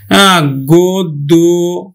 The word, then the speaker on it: গদ্য: পায়, নিয়ম 3 নম্বর, আদ্য অ প্লাস কি পায় যদি জফলা পায় তাহলেও কিন্তু ও এর মতো উচ্চারিত হবে। যেমন দেখো পদ্য, গদ্য, পদ্য, গদ্য, সভ্য, পদ্য, দেখো এখন দেখো পদ্য উচ্চারণ হবে, পদ্য, গদ্য, গদ্য, গদ্য, সভ্য, সভ্য। শিক্ষার্থী বন্ধু লক্ষণীয় জফলা থাকলে